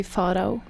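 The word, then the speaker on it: Farao: In Norwegian, it would be Faro.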